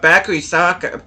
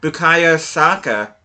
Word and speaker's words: Bukayo Saka: Bakary Saka, Bukayo Saka, I keep on getting his first name wrong.